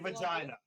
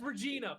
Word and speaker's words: Regina: Saturday, Say vagina. in Regina, Saskatchewan. Vagina, Saskatchewan. It's Regina. Fuck off.